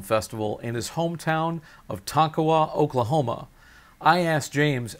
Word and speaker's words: Tonkawa: how is it pronounced that was the proper pronunciation it's a tonkawa now that's your hometown born and raised yep